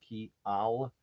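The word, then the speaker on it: kial: understand it right but k i a l that would be Y in Esperanto is pronounced key Al and k i eel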